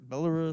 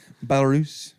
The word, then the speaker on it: Belarus: Belarus? That's not how something. you say it. Belarus.